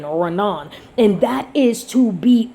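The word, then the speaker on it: רנן: This right here, which is so beautiful, this word right here is Ranan, phonetically R-A-W-N-A-N, Ranan.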